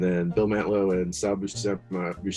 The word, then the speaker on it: Buscema: And then Bill Mantlo and Sal Buscema. How do you say his name? Buscema, I think.